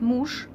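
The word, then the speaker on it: муж: Muž, but we pronounce it mush. Mush, again, it becomes j, becomes deaf.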